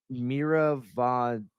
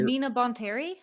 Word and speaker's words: Mina Bonteri: is when Ahsoka joins I'm gonna say her name wrong, Mira Von. Aaron, help me. Give me The Separatist Planet, or Matthew, someone help Oh, me. Mina Bonteri?